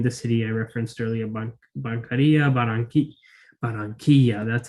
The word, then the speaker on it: Barranquilla: Venezuela, including in the city I referenced earlier, Barranquilla, that's how it's pronounced, Barranquilla, Colombia, where you can get kibbeh and falafel and all the good grub.